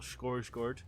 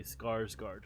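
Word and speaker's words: Skarsgård: And uh Bill Scorsgard um is uh is back as Pennywise. I think that's how you pronounce it. I would normally say Scarsgard, but I was told that's not right.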